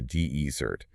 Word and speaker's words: desert: The dry sandy places. The deert. stress on the first syllable and the sweet thing you eat after dinner is desert.